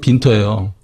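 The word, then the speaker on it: Winter: 빈터라고 나와 있는데 그 영문으로 따지면 윈터고 독일식 발음이 빈터예요. 근데 거기에 이제 17,500유로가 송금이 된 게 딱 있더라고요.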